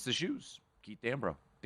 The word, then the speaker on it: Dambrot: Keith Dambrot. You pronounce the T.